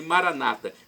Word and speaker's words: Maranata: nossos irmãos separados os evangélicos ou protestantes dizem Maranata com a tônica na penúltima sílaba nosso católicos colocamos a tônica na última sílaba não importa a pronúncia e o significado vinde